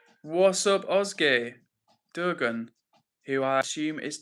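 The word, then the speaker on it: Özge: And Ozge says Ozge says, "Ooh, you pronounced it really well, bro.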